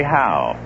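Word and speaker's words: Hough: fact where were we they pronounced it how h-o-u-g-h they said charlie howe there's huff like in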